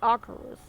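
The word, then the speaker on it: Acherus: I know it's so funny, but I used to pronounce it Acheros until I did the Death Knight campaign in Legion, and it's actually Acheros.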